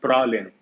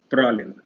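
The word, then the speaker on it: Praslin: That is Pralin. So the name of the island is Pralin. S is silent.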